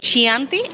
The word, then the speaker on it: Chianti: que son de especialidad uno es el chianti o que escuché que le lo pronuncian como chanti ese es un italiano